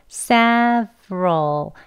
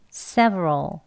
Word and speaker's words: several: r r네 그러면 S 하고로 이렇게 두 개만 발음해 주시면 돼요 천천히 해 볼게요 seal네 한번 더요 several 그럼 조금 또 빨리 한번 해 볼게요 several several 여기서는이 R 할 때 발음이 좀 어려우실 것